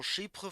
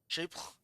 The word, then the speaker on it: Chypre: It is a true old school Chypre fragrance. That's how you say it, Chypre? Chypre? Oui, oui.